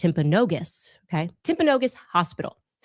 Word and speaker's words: Timpanogos: I'm told actually it's pronounced Timpanogos, okay?